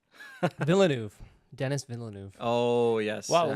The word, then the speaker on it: Denis Villeneuve: Denis Villeneuve. Oh yes. Well, yeah. like if you say it in French, it's like Denis Villeneuve.